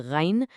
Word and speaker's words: ghain: Finally, the upper throat gives us the ghain, which kind of sounds like a deep gargle, and the kha.